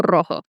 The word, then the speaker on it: rojo: tengo el ojo rojo Oh, you roll the R. when it's at the beginning.